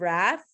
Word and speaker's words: Wrath: The Grapes of Wrath. See how the W is silent, etc.